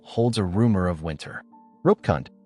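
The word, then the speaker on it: Roopkund: Rupkund, pronounced Rupkund.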